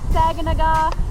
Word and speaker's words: Saganaga: Yes, pronounced Saganaga, not Saganaga, or how else do people say it?